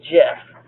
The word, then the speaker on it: GIF: peanut butter even though I want to call it a gift because it looks like gift it's a jiff if you're saying it right so these are the